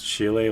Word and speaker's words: Chile: Jimmyi Hendris has a song called Highway Chile and that he pronounces Chile like child.